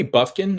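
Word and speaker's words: Bufkin: Kobe Buffkin, I think that is how you say his last name.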